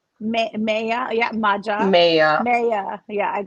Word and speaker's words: Maya: But that gets butchered too at Starbucks. I mean, I've been Mia. I have been Maja. Like Maya.